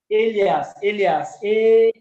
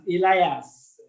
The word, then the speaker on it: alias: Did you say alien or what? Alias. How do they pronounce it? Elias. Oh, ALIAS. Exactly. Alias. Oh.